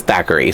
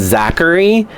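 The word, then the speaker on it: Thackery: So, and also, who else thought that his name was Zachary? And then Winifred was just mispronouncing it, saying Thackeray, like, you know, what hast thou done with my son Thackeray? And she's like, Thackeray, And I thought she just had a lisp or something, and she was trying to say Zachary.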